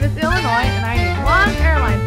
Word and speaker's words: Illinois: and hit the road yes my name is Illinois and I need one airline ticket to um well Illinois mhm no yes is silent want to ride sure hey Connecticut Taxi